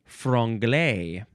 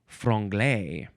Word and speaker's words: franglais: Our last word is frungle. F R A N G L A I S. Frugle.